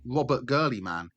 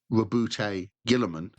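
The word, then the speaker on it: Roboute Guilliman: Every character from the book has a phonetic breakdown of how to say their name, so it turns out Robert Gurleyman is actually called Rabute Gilliman.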